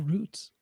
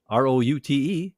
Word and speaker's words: route: In football, R-O-U-T-E is pronounced route, not root.